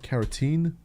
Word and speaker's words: carotene: supplements you can take is it keratin what is it is kerene right how's it pronounce keratine carotene it's the carotene that'll make your skin